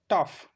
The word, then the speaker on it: tough: আবার দেখবো যে কিছু কিছু ক্ষেত্রে আছে যেখানে জিএইচটা ফয়ের উচ্চারণ করে, যেমন TOUGH, টাফ, এরকম।